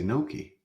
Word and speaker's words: gnocchi: I thought it was gnocchi. The Italians say gnocchi. Now we have to go and talk to our favorite search engine. And see what Gnocchi. how Gnocchi. do you How do you say? How can I do this? It is gnocchi. I always thought it was gnocchi. Okay, so I was wrong.